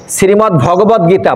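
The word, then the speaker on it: শ্রীমদ্ভগবদ্গীতা: দ আর ভাগবত কি শ্রীমদ ভাগবত শ্রীমদ ভাগবত ত সেটা হবে ত আর এটা হচ্ছে দ শ্রীমদ ভগবত গীতা অর্থাৎ ভগবান বলছেন আর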